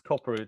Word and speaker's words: Kopperud: we're getting ready is is it corporate is that how you say your surname yeah it's corporate yes cover oh that was